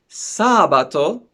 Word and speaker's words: sabato: di mercoledi okay and then for saturday we have the stress on the first syllable sabato and then for the